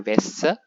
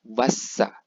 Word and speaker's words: Wasser: Itu dibacanya bukan Wesse, melainkan Wasser. Bukan Wasser seperti bahasa Inggris, tetapi Wasser seperti hurufnya.